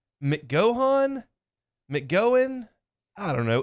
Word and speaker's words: McGohan: of their names Jackson McGowan mcgohan McGowan I don't know m c g o h a n it feels like it might be McGowan because that's like a common name even